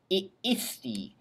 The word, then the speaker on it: iisti: So the only thing I'd really point out to you is that you really want to separate the two syllables, the two double I's, ii, iisti, iit, iimus, iistis, ierunt.